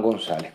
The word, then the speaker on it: González: Juan González, con acento en la A.